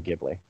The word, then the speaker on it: Ghibli: Studio Gib Giblin or Gibby or however you want to pronounce it. Ghibli.